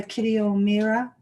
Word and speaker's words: Kitty O'Meara: I'm going to read a poem by Kitty O'Meara. Yeah, that's how you pronounce it.